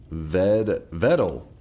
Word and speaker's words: Vedal: You pronounce Vidal so funny. Vidal? Vidal? How am I saying it wrong? Vedal. Oh, it's Vedal?